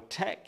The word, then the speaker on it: tek: d oh um and our tech is ta Tek and then now our car